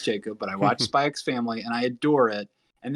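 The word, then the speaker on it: Spy × Family: watch Spy X family I know you're not supposed to pronounce the X Jacob but I watched spikes family and I adore it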